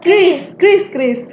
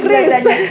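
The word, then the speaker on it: QRIS: Kiris, gimana ya bacanya? Kris dibacanya Kris. Kalau aku biasanya kiris sih. Iya, aku biasanya juga kiris, tapi yang benar itu adalah Kris.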